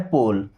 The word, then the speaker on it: pole: POLE, इसे पढ़ना है पोल।